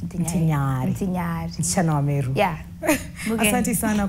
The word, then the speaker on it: Ntinyari: Because that's how you pronounce Ntinyari. Ntinyari.